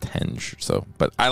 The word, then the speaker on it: henge: is actually in the word Stonehenge and it's pronounced henge so but I like Hingis better so it's Stonehenge because it's hanging Stones